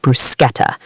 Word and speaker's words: bruschetta: The CH in Italian sounds like K. So bruschetta, the toasted bread with tomatoes and garlic, is pronounced bruschetta.